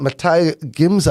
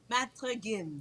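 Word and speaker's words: Maître Gims: Matai Gims? I don't want to mispronounce. Matre Gims.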